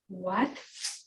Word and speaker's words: Wat: Even for Thai or Cambodian, Wat, Thai, often spelled in English W-A-T, and this is a Thai pronunciation, and then Romanized Thai spelling of avasa.